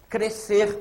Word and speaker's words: crescer: R devem ser separados crescer o s não é pronunciado iso é um dígrafo crer o s pro